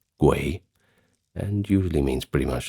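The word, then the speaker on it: 鬼: In Chinese, it is pronounced guay and usually means pretty much the same thing, but has more of a ghost connotation.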